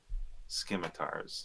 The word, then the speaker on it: scimitars: guys and go, magical scimitars? Scimitars. Speaking their language, I see, Merton. like I was like 10 when I started RuneScape, okay? I pronounced the C my whole life.